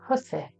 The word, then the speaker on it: housewife: Called a hussif, and it's spelled Housewife, and it's basically a kit that they kept with them to repair their clothes.